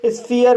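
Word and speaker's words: sphere: एस को आधा सा पढ़ा जाएगा, पी एच को फा पढ़ा जाएगा और ई को ई आ पढ़ा जाएगा, आर को रा पढ़ा जाएगा और ई साइलेंट रहेगा। इस तरह से स्फीयर पढ़ा जाएगा और स्फीयर मीन्स प्रकाश गिरह।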